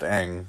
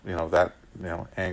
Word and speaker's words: Aang: But yeah, with Aang, like we've had the whole show of him being pronounced Aang with the Aang like hang loose, right? Not Ong like Donkey Kong.